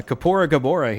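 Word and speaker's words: Kaepora Gaebora: all right so uh kapoor gabora here is going to take us back to town which is a shortcut because from there we're going to go become an adult that is the right way to say it i don't know if that's the right way to spell it i think there's an a in kapoor like k-a-e kapoor anyways big boy is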